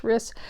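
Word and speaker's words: Rhys: Elizabeth Bowen Jean Jean riss I think it's pronounced riss barl Banbridge Dorothy Parker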